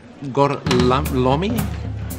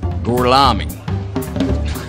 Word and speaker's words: Gorlami: Lo pronuncio correttamente? Sì, corretto. Gorlami? Per cortesia, me lo ripeti ancora. Gorlami.